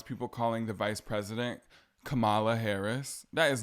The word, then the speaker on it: Kamala: lady is funny but her name is Kamala not Kamala I know you hear